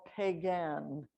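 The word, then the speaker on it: Peigan: canada the same word is spelled p-e-i-g-a-n so our real name is either pikani or pagan but blackfeet is what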